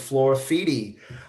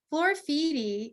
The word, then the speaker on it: Floraffiti: they just bring to life this concept of Flora feedy I want to just I should have said